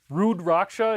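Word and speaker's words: Rudraksha: Rudracha is how you pronounce it and it's a Hindu uh it's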